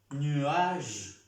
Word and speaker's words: nuage: Nuage, nuage, nuage. Igualmente como aquí. Nuage. No se pronuncia la E.